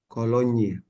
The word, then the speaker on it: cologne: Sampai baguette aja kebacanya. Misalnya ini kafe, kemudian ini Cologne, Koloni gitu ya? Cologne, ada nya. Cologne. Kolonyi.